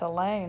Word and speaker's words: Elaine: asked me about her that's Elaine I reply rhymes with pain she frowns everybody says